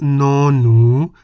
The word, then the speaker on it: น หนู: The Thai consonant no-nu sounds like an N at the beginning and end of a syllable.